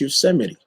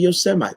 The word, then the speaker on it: Yosemite: get a king that can pronounce yosemite you're not calling your semi that's all i'm saying